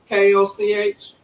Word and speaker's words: Koch: people pronounce it different i think that's like cook koch i don't see how they pronounce it cook but okay but they